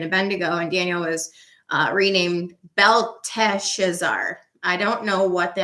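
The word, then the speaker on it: Belteshazzar: given a babylonian name beltha schezar there's one extra syllable in his name versus the king of babylon it's b-e-l-t-e-s-h-a-z-z-a-r which is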